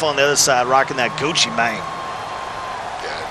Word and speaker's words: Gucci Mane: this side rocking that gucci mane got to make sure you say it right so Chi mang don't you mine so